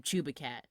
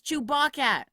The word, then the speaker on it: Chewbaccat: had kept the name Chewing Gum, because everyone mispronounced it, and it drove me crazy. Even the director started calling him Chewbacat. But it's not Chewbacat! It's Chewbacca!